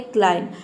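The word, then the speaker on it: climb: यहां पे एम बी एक साथ आता है। तो यहां पे बी साइलेंट रहता है। केवल हम एम को प्रोनाउंस करते हैं। यहां पे देखिए सी एल आई एम को प्रोनाउंस करें। बी साइलेंट है। यह क्लाइंब नहीं होता है। यह होता है क्लाइम।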